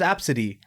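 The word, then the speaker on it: Abcde: a little bit the worst one I've heard absidy oh I've never heard that one I know you know how to spell it I do spell it a b CDE e I'm out what absidy her name's absidy you spell you actually met an Abid I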